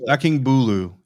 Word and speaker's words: Akingbulu: Alex Akingbulu. It's Bulu. Akingbulu is my understanding of it.